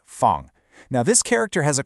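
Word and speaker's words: 方: This one is fun, pronounced fun.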